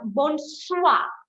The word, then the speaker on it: bonsoir: Yes, we pronounce R.